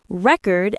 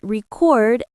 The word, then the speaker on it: record: Another example, record as a noun, but record as a verb.